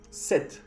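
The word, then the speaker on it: sept: Aquí puedes ver un P. El P no se pronuncia. 7.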